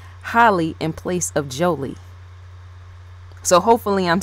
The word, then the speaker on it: Jholie: I'm saying it, because for some unknown reason I keep wanting to say Holly, yes, in place of Jolie.